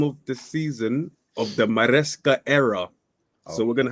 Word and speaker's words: Maresca: At the bridge, first game of the season of the Maresca era. So we're going to have to experience his new manager. Yeah, I thought you said Mascara. Pronounce it again? Maresca, yeah.